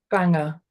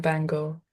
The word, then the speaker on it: Bangor: pronounce it in Wales what's the correct uh pronunciation Banger bang rather than Bangor Yeah Bang okay if